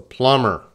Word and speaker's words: plumber: So that's the plumber. Plumber. Everyone. Plumber. Don't say that B. Don't say plumber. No. Plumber.